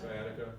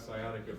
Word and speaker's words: sciatica: down the leg s sciatica awesome because nobody pronounced the C in sciatica that's good um if